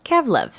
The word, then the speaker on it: Gezlev: There are 3 distinct dialects in Qırım Tatar, so people from Gezlev actually pronounce it as Kevlev.